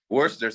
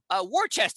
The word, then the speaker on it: Worcester: But, dude, Worcester's going to be popping for sure. Of course. And some people always say it, mispronounce it because it's spelled Warchester, but no one says it like that.